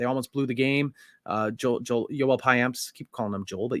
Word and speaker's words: Payamps: You got the S at the end of his name. Do I not? Oh, I don't often pronounce that, do I? It's Payamps. I usually say Payamp.